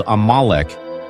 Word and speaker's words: Amalek: mystery that spans Millennia in Hebrew it is pronounced as amalik and in the texts of the Hebrew and